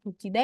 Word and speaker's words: 붙이다: Meskipun dia pronunciation-nya sama ya, bucida ini juga dibacanya juga bucida.